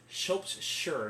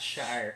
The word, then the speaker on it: shire: that's the case apologizing so sure not shire it's spelled shire but it's sure sure sure got it